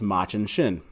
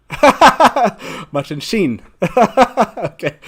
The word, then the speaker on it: Machin Shin: word is machin shin i always used to pronounce this as much and shin and so i think i was always wrong